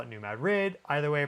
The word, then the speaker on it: New Madrid: That's how the locals say it. It's New Madrid, but the locals call it New Madrid.